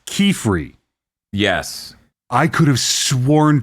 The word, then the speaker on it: Qifrey: It cuz it it's spelled like Q I F R E Y. Mhm. Which they in the show in both languages pronounce Kiefery.